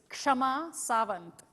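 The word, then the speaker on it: Kshama Sawant: Socialist Party trauma so I'll pronounce her name the way it's supposed to be pronounced by the way listen carefully it's Shama Savin because she's exactly from the same part of India that I am I am so proud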